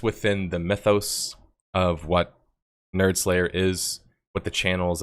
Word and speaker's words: nerdSlayer: It's just pronounced nerdSlayer, even though you see N.S.